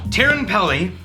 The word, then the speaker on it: Teerenpeli: Okay, so we've got Teerenpeli, Yeah. and I hope I'm pronouncing that right, 10-year-old Finnish whiskey.